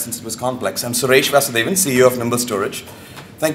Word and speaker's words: Suresh Vasudevan: progress for a long time I'll start by pronouncing my name I think uh Steve bypassed that since it was complex I'm SES Vasan CEO of nimble storage thank you very much